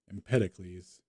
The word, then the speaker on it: Empedocles: How to pronounce. Empedocles. Oh, Empedocles. All right, there we go. Empedocles.